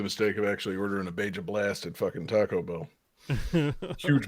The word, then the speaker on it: Baja Blast: I mean, it's supposed to be pronounced Baja. No. It's Beja Blast.